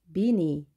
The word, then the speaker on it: beanie: beanie, beanie라고 합니다. 스펠링 주의하시고요. beanie, 길게 발음이 됩니다. beanie. 그대로 비니라고 하면 되겠습니다.